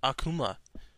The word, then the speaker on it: Akuma: him okay number four is got to be Akama Street Fighter also pronounce it Akuma I like this guy mainly the same reasons